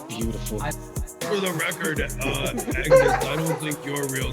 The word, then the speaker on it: Agnes: me this name, and it's actually pronounced anus because the G is silent. My mom used to always say that real G's move in silence. I think it's beautiful. For the record, Agnes, I don't think your real name is beautiful.